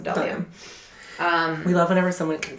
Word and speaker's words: Bdellium: So I use Delium tools a lot, and they're spelled BDELLIUM. It's like Badelium, but you pronounce it Delium.